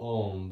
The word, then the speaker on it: Om: sound of om so om is commonly spelled o m um but the actual pronunciation is a-u-m so it's and it's not alm it's it's still om but just feel that